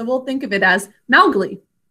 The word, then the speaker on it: Mowgli: And we're going to mark it according to the way we pronounce it and the way it's commonly said, Mowgli. So what else should we do for this phonogram? Thinking cap. Close. Okay, what are the sounds? Ow, O. And we say Mowgli.